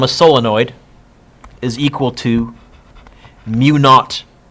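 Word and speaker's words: μ0: solenoid is equal to mu naught you can say mu zero but you'll sound way more impressive if you say mu naught and i had a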